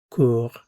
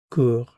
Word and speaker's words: cours: Je cours. Tu cours. Il, elle, on court. Notice these three are pronounced the same.